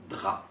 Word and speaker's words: drap: Attention, on ne prononce généralement pas la lettre P quand elle est située à la fin d'un mot, comme dans drap.